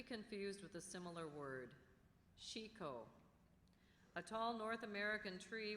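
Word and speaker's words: chicot: Chico. Are there any alternate pronunciations?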